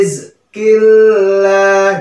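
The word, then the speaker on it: رزق الله: tebal ya harus tipis Hai rizqillah jangan Rizky Allahlah itu salah ya kurang tepat waalaikum saw nah di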